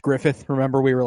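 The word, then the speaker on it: Gruffudd: r u FF u d d and it's pronounced Griffith remember we were like what the [ __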